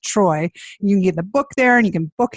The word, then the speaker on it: Treu: It's T R EU, but pronounced Troy.